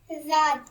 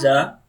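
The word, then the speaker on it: ز: Read za. za, The makhraj of za is tongue near upper teeth.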